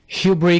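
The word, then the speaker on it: hubris: एक्सपेडिएंट ठाट बाट को इंग्लिश में ग्रंडी ग्रोकेंट ग्रंडेंट ग्रंटी लोकंट घमंड या गरूर को इंग्लिश में ह्यूब्री कहते हैं। यहां पर हम एस को साइलेंट रखेंगे।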